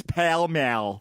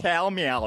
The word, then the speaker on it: Pall Mall: Is that the way you pronounce it? I switched to... hold on, not in Minnesota. It's Pall Mall. Pall Mall. Pall Mall in Minnesota.